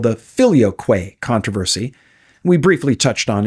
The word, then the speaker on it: filioque: debate was called the filio Quay controversy we briefly touched on in an earlier episode episode there's a debate over the pronunciation of Philo some say Philly o others Philo take your pick the point is the